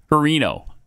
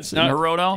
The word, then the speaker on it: Hirono: Harino. No, it's not Harino. Shorts. No, his name is not Senator Shorts. Brian Schatz. Yeah. She's good. Hirono?